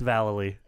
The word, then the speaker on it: Vallely: It's Vallely.